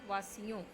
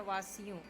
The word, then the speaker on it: वासियों: देशवासी वासियों में 6 पर छोटी उच्चारण करो, वासियों, छोटी बेटा, वासियों।